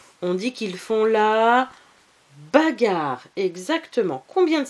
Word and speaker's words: bagarre: Bagarre à deux R. Et le E muet. Bagarre.